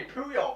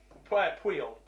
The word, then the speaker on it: Puyol: yeah, I pretend to be Puyol, mate. It was great. Puyol. Puyol, sure. Well, I can't No, remember. Puyol.